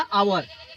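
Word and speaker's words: hour: अब सोचेंगे कि आवर काहे सर जी बोल रहे हैं जबकि हावर्स होता है, आवर्स काहे बोल रहे हैं? आवर्स नहीं होता है, इतना ध्यान दीजिए, कुछ साइलेंटता होती है।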